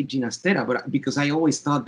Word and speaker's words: Ginastera: Yes, Ginastera should be right. The G in Spanish is pronounced as an English H.